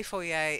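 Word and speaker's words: foyer: then the four yay it's a at the end not for you for yay oh yeah now we say four yay it's knit posh but because it comes from the French okay you get that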